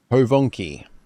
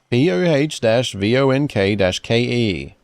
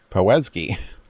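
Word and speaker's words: Powązki: Povonki. Really? Povonki. Poh-vonk-ke. Povonki Cemetery. I would never have got that. I would have went with Powazki.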